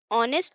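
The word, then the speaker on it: honest: बोली यहां क्या है ही इज यह जो प्रोनाउंस करते वह क्या करते हैं नेस्ट या ऑनेस्ट ऑनेस्ट करते हैं ही इज ऑनेस्ट पर्सन तो यहां क्या होगा ऑनेस्ट का ओ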